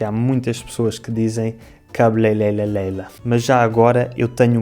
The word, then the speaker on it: cabeleireira: Ora, portanto, se falares inglês, basta pegares neste som que já tens na tua língua e em vez de pronunciares cabeleireira, pronuncias R como o D de daddy.